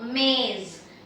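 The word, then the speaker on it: मेज़: Ma with A ki matra and I have again the J with the dot. So, you pronounce it as Z. So, maze.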